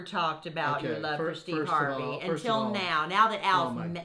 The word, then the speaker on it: Steve Harvey: fly gosh' the great stepen Hardy who sorry stepen Harvey came wow stepen I was thinking of Hardy